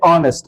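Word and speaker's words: honest: जैसे आप देख सकते हो यहां पे ऑनेस्ट मैन आवर ऑनर। यहां पे एच साइलेंट है और एच के बाद जो साउंड है वो वोवेल साउंड है।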